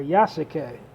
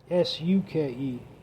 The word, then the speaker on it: Yasuke: And the samurai, the characters, was based on a black samurai in the feudal Japan called Yusuke, or Yasuke, if I'm pronouncing it right, Yasuke.